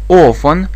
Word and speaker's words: often: I always do it often часто я часто звоню ей I often Call her I often Call her Обратите внимание на произношение пишется но не произносится далее Обычно я обычно